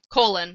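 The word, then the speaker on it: Kholin: of her name too colon colen's her last name right yeah yeah yeah you know like the inside of your body uh it's not spelled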